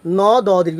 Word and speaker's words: নদী: বলতে পারি যেমন নদী ন দীর্ঘ ইকার ন দি কিন্তু উচ্চারণ হবে নদী ন দি না হয়ে নদী হবে এভাবেই তোমাদের এই যে আর দ এর পরে যদি রসই দীর্ঘই রসও দীর্ঘও থাকে তাহলে এই অ এর উচ্চারণ অর্থাৎ তোমাকে কিসের মতো দিতে হবে ও এর মতো দিতে